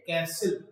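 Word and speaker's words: castle: और उनको हम लोग कैसल बोलते हैं। That is कॉल्ड सी ए एस टी एन डी। तो इसमें जो टी है वो साइलेंट रहता है। तो वी सेड कैसल।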